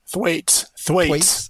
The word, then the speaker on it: Thwaites: And how do you pronounce that glacier? Thwaites. Okay. Yes. So Thwaites.